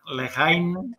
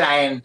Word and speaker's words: La Haine: Y bueno, muchas gracias de nuevo a las compañeras Neca y Edurne de la Lehain o la AIN, ¿cómo lo pronunciáis vosotras? En verdad se dice la AIN, es una palabra francesa.